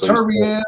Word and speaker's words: Beterbiev: Beterbiev. Beterbiev. That's the correct way to say it.